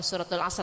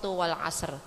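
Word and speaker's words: وَالْعَصْرِ: rahimullahuai W Amin suratul asr suratal asr bukan suratul asr tapi surat Wal asr jadi ada wnya Wal asr itu artin W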